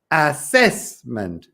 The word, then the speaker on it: assessment: meet Claudia Ricardo just remember that the stress the Tonica is the second syllable so it's assessment assessment there you go assessment